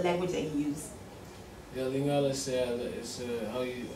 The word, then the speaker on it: Lingala: Yeah, Lingala is how you say it.